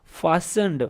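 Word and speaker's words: fastened: फास्टनड, फास्टनड, इसमें देख लें टी भी है लेकिन फास्टनड नहीं कहना आपने, इसको फास्टनड कहना है। इसमें से जो टी है वो साइलेंट है।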